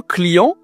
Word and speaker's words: client: On appelle ça un client en français. Client. On dit le client au féminin, la cliente. Attention ici à la prononciation, hein. On utilise le nez client. C'est une nasale.